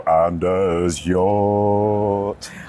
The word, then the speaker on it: Anders Hjorth: Welcome to the show, Anders Hjorth. I'm still amazed that you can pronounce my last name that well.